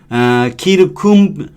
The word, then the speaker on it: circum: C monumentum 메모리 기념하는 것이 기억하기를 원한다면 키르쿰 이게 이제 라틴어니까 다 K로 발음할 거예요. 키르쿰 speak circumstance인 거죠.